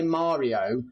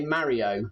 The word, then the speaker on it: Mario: Some Americans say Mario, some Americans say Mario. I'm definitely a Mario person.